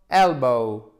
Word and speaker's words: elbow: shoulder, elbow, elbow, elbow, elbow, elbow. Faites bien l'accent tonique sur la première syllabe.